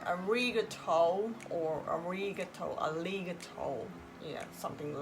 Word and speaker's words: ありがとう: So I will tell how to make a good pronunciation of Japanese today in this video. Let's check it. First example. ありがとう。ありがとうございます。Sometimes foreigners say arigato or arigato, yeah, something like that.